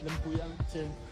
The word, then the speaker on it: Lempuyang: Lempuyang temple.